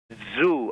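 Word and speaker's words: Zhou: that nothing oh her first name is zoo i think that's how you pronounce it z-h-o-u do you know how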